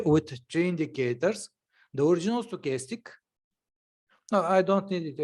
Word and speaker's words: stochastic: works it oscillates good sarcastic how is the pronunciation stochastic okay stochastic yeah stochastic and is it